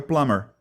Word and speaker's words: plumber: Só que esse B não é pronunciado. Fica plumber. The guy is a plumber.